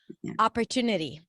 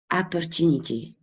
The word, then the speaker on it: opportunity: What syllable are you stress? Are you stressing? Huh? opportunity. So you did so opportunity. Yes, that is it. You did stress the ah the first few times, right? You said opportunity instead of opportunity. Again, same rule one syllable before the suffix.